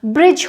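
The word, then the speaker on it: bridge: ब्रिज, जो पुल होता है उसे बोलेंगे, यहाँ पर भी जी से पहले डी है, प्रोनाउंस नहीं होगा। ब्रिज हो गया, लेजर जिसे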